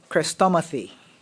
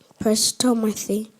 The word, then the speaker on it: chrestomathy: Prestomathy. Prestomathy. Crestomathy. You said prestomathy? No, not press. Crest.